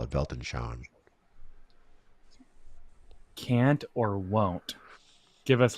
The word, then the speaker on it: Weltanschauung: There's a German term called Weltanschauung, Weltanschauung, that's how you pronounce it, Weltanschauung, which is like